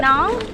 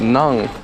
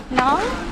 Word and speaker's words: nón: Nón. Yeah, what? Nong. Nón. Nong. Nón lá. Nong na. I don't think I can pronounce anything right.